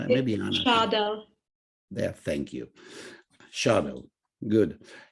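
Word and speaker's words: Scheidel: Somebody here online knows exactly how you would pronounce the last name. Maybe Anna. Schadel. There, thank you. Schadel, good. Yeah, so from now on is Schadel.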